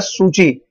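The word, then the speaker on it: Suu Kyi: ये आंग सान सू की प्रोनाउंस्ड है सूची, वॉन द इलेक्शन 1990s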